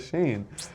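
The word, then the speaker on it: Shein: and then they say shine instead of sheen, and then now there's a whole another generation that says shine instead of sheen, because I wouldn't mind the if, teacher if, didn't know.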